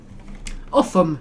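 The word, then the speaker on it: Ulgham: Uffum is how you pronounce that. Don't ask me why.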